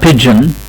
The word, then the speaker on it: pigeon: اوكي، يبقى الكلمة دي النطق الصح بتاعها pigeon، النطق الصح بتاعها pigeon.